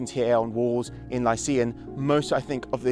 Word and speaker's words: Lykia: The Lucca are widely accepted to be Lycians because it's pronounced Lycia in the Greek, it's Lycia.